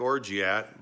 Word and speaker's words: orgeat: It looks like Orgeat, but it's French. It's originally from France. And they say Orgeat. So why are we making Orgeat syrup?